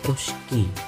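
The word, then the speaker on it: русский: Nah ini dibacanya bukan P, Y, C, C, K, N, N ya guys, tapi dibacanya Ruski.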